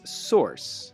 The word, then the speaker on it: source: pronounce this word in american english it's source it sounds like coarse or horse in french it's